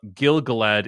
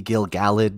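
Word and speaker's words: Gil-galad: the second age uh gil galad isn't the elven king at this time it might also be gil gallade depending on who you ask it's i it's a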